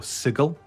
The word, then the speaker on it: Sigil: planes, you've got um Sigil or Sigle as someone says we we should be pronouncing it.